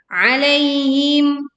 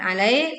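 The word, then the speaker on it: عليهم: Alaihim, alai ya'lin ya, bukan alai tapi alaihim.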